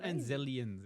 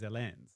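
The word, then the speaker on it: Anzellan: So it's not Anzelians. It's Anzel. Anzel. There's no Anzelian. Sorry, I was looking at the IMDb and it is spelled wrong.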